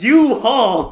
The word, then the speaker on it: U-Haul: orange trucks and everything he's like what no it's you hall and i was like holy you're right noah it is pronounced u-haul and for our listeners